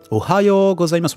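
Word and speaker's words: おはようございます: Ohayo gozaimasu. En plus, l'intonation est plutôt pas mal. Hein. Ohayo gozaimasu. On entend bien la prononciation du yo allongé.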